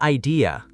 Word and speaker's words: idea: In Britain, we say idea too, but sometimes it sounds like there's an R at the end because of the linking R in British accents.